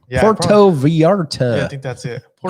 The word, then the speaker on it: Puerto Vallarta: went to puerto vallarta you say that one time puerta vallarta i think you're pronouncing it wrong puerto vallarta yeah i think that's